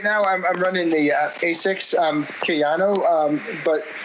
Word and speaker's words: Asics: Right now, I'm running the Asics Kayano, but how do you pronounce it?